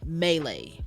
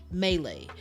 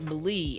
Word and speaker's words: melee: here's my biggest one melee which is a French word melee there's an accent on the second e third e technically second